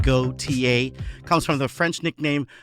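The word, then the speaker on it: Gotye: And his stage name is pronounced Goautier.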